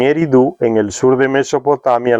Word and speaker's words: Eridu: En Eridu, ahora Zecharia Sitchin le coloca acento en Eridu, en el sur de